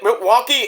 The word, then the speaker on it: Milwaukee: Hey, Alice, isn't Milwaukee an Indian reservation? That's right, Jim, it is. And it's pronounced Milwaukee, which means the good land.